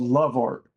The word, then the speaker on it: Lovart: and it's called and it's not spelled the way that it's pronounced. It's called Love Art. L O V A R T. AI. Love art.